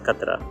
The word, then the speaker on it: qatra: Ahmad Faraz pronounces qaf in rifaqat in a standard Urdu way, but Tahzeeb Hafi pronounces qaf in qatra as katra.